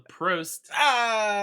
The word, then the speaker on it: Prost: Called the Prost.